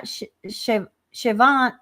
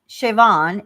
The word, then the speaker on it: Siobhan: Yeah, Shiovan. Okay. Yeah, Siobhan is pronounced Irish Gaelic.